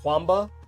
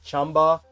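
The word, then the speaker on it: Qanba: It's a lot of US people pronounce it Kwamba, but it's actually not pronounced that way. It's more like Chamba.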